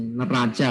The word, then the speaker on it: neraca: Nah, kalian tahu kan neraca, bukan neraka ya bacanya, neraca ini, neraca.